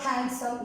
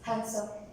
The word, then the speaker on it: handsome: So we can see when N comes after D, D is silent. Wednesday, pledge, D is silent. Pledge. It's not handsome, it's handsome.